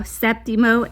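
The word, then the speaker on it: séptimo: Septimo, and that's an accent on the E.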